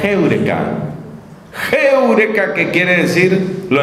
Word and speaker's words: heureka: La gente dice eureka, pero me enseñaron que la pronunciación correcta era heureka.